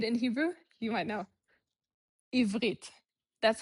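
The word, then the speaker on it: עברית: Ivrit. That's how you say Hebrew. Ivrit.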